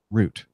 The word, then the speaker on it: route: One such word is route, a way to navigate from one point to another, but it's pronounced route. A route, a route, as you may say it, is in fact a woodworking term.